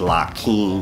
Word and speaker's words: Lakim: my name um that they gave me is laim and my honorable last name is laim is spelled love ala King equality I master and